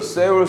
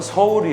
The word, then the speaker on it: 서울: 국민들 한테 야 너네들 세울 세우라는 안되요 올 그 도시의 정확한 발음은 서울이 에요 따라 이곳에 서울 그리고 골에 아닙니다 코리아 합니다 그렇게 마름 해야되요 아